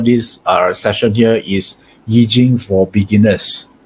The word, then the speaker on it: Yi Jing: Yeah, in Cantonese, we pronounce this as Yi Jing, right?